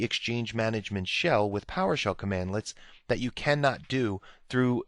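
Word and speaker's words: cmdlets: now Powershell commands are built using commandlets so that's how you pronounce that commandlets and you'll see that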